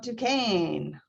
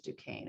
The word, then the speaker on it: Duquesne: previous studies questions about duquesne why did you choose duquesne and i i put in there how we pronounce it it's a french word it has to do